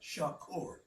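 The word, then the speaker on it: שחור: You know, like how and and uh you know, somebody probably laugh because I'm going to use this like Tupac Shakur Shakur. Think of it like that. Shakur.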